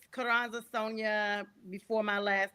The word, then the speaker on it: Sonja: And it's Kuranza Sonia before my last name gets butchered.